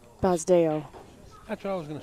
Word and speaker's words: Basdeo: go undefeated Mr suai his first name is pronounced bazo that's what I was